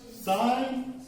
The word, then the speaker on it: sine: What is sine and cos and tan? Introduction, history of this. So this is the sine, not sin. Some students pronounce this word is sin.